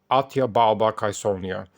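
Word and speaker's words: Atia Balba Caesonia: Augustus was Atia balbattezonia or if we have to pronounce it as it was back then atya balbakaisonia and according to the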